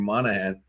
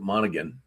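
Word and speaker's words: Monaghan: They use a anglified version of the Irish name Monahan. So it's actually Monahan, but everybody there calls it Monigan.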